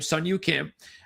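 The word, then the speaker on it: Si Woo Kim: That's his real name, Sun Yu Kim. That's, again, that's basically from what I've been told, that's how he pronounces his name.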